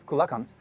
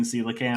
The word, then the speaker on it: coelacanth: say this fish called kulakans has been extinct for 66 billion look he's not a native English speaker so I'm going to give him a big pass on mispronouncing coelacan I actually did I'm